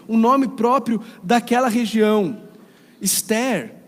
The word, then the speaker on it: Esther: Esther, ou Esther, como seria a pronúncia hebraica, é a pronúncia do